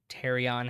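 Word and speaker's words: pterion: if you want to the terion has a silent P like pterodactyl the sphenoid bones this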